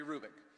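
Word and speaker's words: Hrubec: you h-r-u-b-e-c Terry kubick the H is not pronounced Terry Rubik she did studies of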